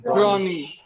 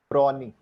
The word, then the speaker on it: brawny: Brawny. Brawny. brownie. Brownie मत बोल देना. Brawny. Prawny. Brownie तो chocolate होती है. Okay, it's brawny.